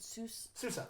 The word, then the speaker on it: Sousa: Before we get there, really quickly, I always pronounce his name right. Sousa, like John Phillips. Sosa.